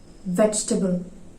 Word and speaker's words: vegetable: Vegetable എന്ന് പറയുന്നത് കേട്ടിട്ടുണ്ട്, vegetable എന്ന് പറയുന്നത് കേട്ടിട്ടുണ്ട്. ഇതൊക്കെ തെറ്റാണ്. It should be vegetable.